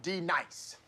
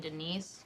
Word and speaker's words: D-Nice: Now, D nice. Do you mean Denise? Son of a bitch! You say your name right now. Denise? Say it right. Denise. Correctly. Denise. Right. Denise. Right. D-nice. That's better. Thank you.